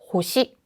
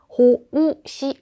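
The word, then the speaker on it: 奉仕: 호시, 호시. 오른쪽은요. 봉사라고 하는 호시, 호시. 이것도 마찬가지로 가운데에 장음이 들어가 있어요. 그래서 호우시 아니고 호시라고 해서 호를 굉장히 길게 말하고 시를 짧게 발음하는 형태이죠.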